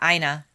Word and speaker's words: Ina: Yes, it's a medium security prison for men located in Ina, right? That's how you say it? Yeah, Ina. Ina. I mean, that's how the lady at the pizza place said they say their name.